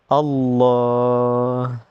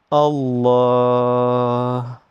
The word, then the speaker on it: Allah: Donc, on va insister sur le sur le L. Allah Allah parce que chaque lettre